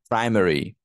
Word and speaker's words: primary: Primary. Primary, first syllable.